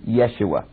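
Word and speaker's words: ישוע: them now the word Jesus really is pronounced in Hebrew Yeshua and it's exactly the same as the Old Testament word Joshua now the Old Testament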